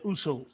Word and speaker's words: Uso: Also, did I pronounce it right? It's Oso. Is that right? No. Oos, you said it right. And then another way you can call brother Uso. Uso.